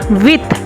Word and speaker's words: huit: 8 with, H is HUIT with.